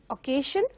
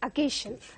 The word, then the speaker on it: occasion: It is not occasion, but it is occasion.